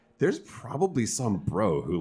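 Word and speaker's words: Breaux: so um activist Harry bro Harry bro I didn't realize that because it's spelled like oh it's very bro b-r-e-a-u-x everybody I didn't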